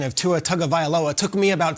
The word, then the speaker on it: Tagovailoa: First, I want to shout out Richard for the pronunciation of Tua Tagovailoa.